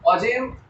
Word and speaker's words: ogive: Ogive कई लोग इसको प्रोनाउंस करने में गलती भी करते हैं, ogive बोलते हैं, बट रियलिटी में ये ogive बोला जाता है.